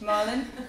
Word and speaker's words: Malin: So I thought I'll just say it's pronounced just like the fish Malin, but there's actually no R in it when you write it.